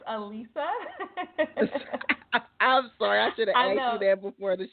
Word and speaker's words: Alissa: benefit of the doubt it is spelled Alissa but my mama said it's pronounced Alisa got it so let's